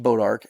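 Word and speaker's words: Bois d'Arc: But the real story is the new lake, Bodark Lake. Yes, it's pronounced Bodark, and it's named after a tree, the Bodark tree.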